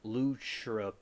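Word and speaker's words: lúchorpán: Well, they pronounce it Luchrapan.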